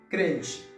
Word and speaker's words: crente: E termine par T-E. T-E a prononcé ti, tá bom? Crente. C'est pas crente, c'est pas C-L, c'est C-R. C-R, tá bom? Crente. On fait son R à sonner et légèrement.